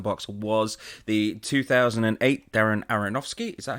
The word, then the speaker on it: Aronofsky: Yes, and the what's in the box was the 2008 Darren Aronofsky. Is that how you pronounce it? Aronofsky? Yeah, Aronofsky.